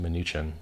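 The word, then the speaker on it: Mnuchin: through his minion munchkin whose name I believe is accurately pronounced maneechan who's in the Panama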